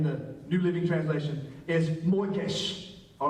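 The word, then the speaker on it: מוֹקֵשׁ: New Living Translation is moikesh. All right? In the Hebrew. All right? I'll give you a quiz later to make sure that you got that. Okay? Moikesh. M-O-K-A. S-H-E is phonetically how it looks.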